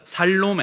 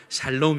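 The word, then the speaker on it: שָׁלוֹם: 잘 로운 아 예 발음을 잘 하셔야 됩니다 살로메 아니고요 살롬 입니다 잘 놈이 뜻이 뭐냐면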